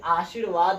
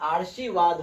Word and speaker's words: आशीर्वाद: गलती नहीं करनी है यह आशीर्वाद नहीं हुआ यह आर्शीवाद हो गया जिस पर रैफरल लगा होता है का उच्चारण उस वर्ग के पहले आता है जिस पर रैफरल लगता है र का उच्चारण उसके पहले आता है तो यहां पर